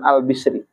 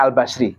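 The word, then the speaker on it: Hasan al-Basri: Ada ulama besar zaman tabi'in namanya Imam Hasan Al-Bisri. Kiai-kiai itu banyak bacanya Al-Basri, ya kan? Tapi kalau saya bacanya Al-Bisri. Apa salah? Enggak, semua benar.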